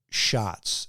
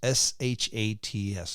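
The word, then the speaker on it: Schat's: a restaurant called Eric shots s h a TS looks like shat but it's pronounced shots like we were we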